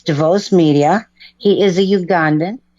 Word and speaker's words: Devoss: well my name is you pronounce it right my name is devos and my production company